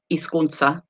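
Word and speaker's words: hizkuntza: i say it again the h is not pronounced and uh this is z is like a sharp s so isconsa then here you have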